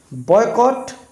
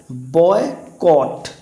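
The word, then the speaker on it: boycott: rule का बहिष्कार करना तो इसको हम क्या बोलते हैं बायकॉट बी ए वाई सी O double T लेकिन होता क्या है बॉय कट ठीक है ना क्या पढ़ना है इसको बॉयकॉट बायकॉट नहीं पढ़ना है बॉयकॉट और एक और बहुत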